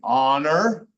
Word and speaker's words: honor: So there are times when the H is silent. I just showed you one with the G. There are other times, like in these words, the H doesn't say anything. Honor, honest, hour. H is just there.